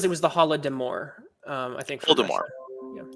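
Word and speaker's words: Holodomor: says it was the holodemour um i think voldemort yeah hold them or is how it's pronounced and cross comics says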